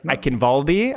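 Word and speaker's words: Eichenwalde: I have heard Ivaldi. I've heard Waldi. I don't know how to pronounce it.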